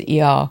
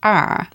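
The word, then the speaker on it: 二: Ah is 2. And I'm so glad we're following a video because I would have gone because I just read that as er, but it's ah. I'm doing it the wrong way around. It's a falling tone.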